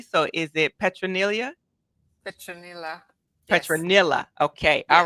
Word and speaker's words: Petronilla: So is it Petronilla? Petronilla. Petronilla. Okay. Yes. All right. Tell us a little bit about Yeah. yourself and where are you calling from? My name is Petronilla. You pronounce it correctly.